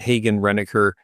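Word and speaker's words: Hagen-Renaker: Hagen Renaker, we pronounce it Hagen Renaker. In all likelihood, it was probably Hagen, because the Renekers were a husband and wife couple, and they got a loan from Ole Hagen, the wife's father,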